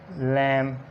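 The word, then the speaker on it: lamb: कॉम, क्लाइम, क्रम, नम, टॉम, इसी तरह डम, लैम, लिम, इसी तरह प्लम्बर और थम। और एग्जाम्पल जो टी से पहले बी साइलेंट होता है, जैसे आ जाता है डेट, डाउट।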